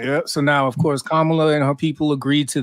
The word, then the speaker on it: Kamala: thank you Tanya always keeping me honest on pronunciations you know what I'm saying kamla Harris and Donald Trump were going back and